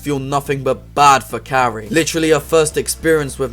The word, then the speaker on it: Carrie: for some reason seems more preoccupied with consistently mispronouncing car's name come in Cassie Carrie go home take care of yourself Cassie it's Carrie sorry about this incident Cassie it's Carrie